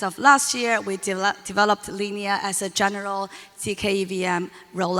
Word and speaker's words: Linea: know consensus recently launched a tkevm it is pronounced as linear so a lot of people pronounce it as